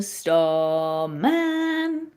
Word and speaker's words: Starman: So if you think about the song Starman, there's a starman. And if we were going to say the word starman, star's higher. Star is the stress syllable.